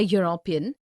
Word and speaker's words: European: university a union a European a EU a unicorn a useful article because these words University Union European EU unicorn useful begin with a consonant sound similarly we see a